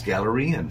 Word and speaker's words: Galarian: Is it Glenarian? Glenarian? Galarian. I know maybe that. It's Galarian. From the Galarian region.